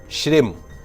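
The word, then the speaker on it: श्रीं: दिने पुनः उच्चारण सुनिए ओम श्रीम जब श्री के ऊपर बिंदी लग जाती तो मा ओम श्रीम क्लिम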